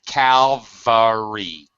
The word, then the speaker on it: Calvary: Well, you got to pronounce it the way it's spelled. So Calvary. Calvary.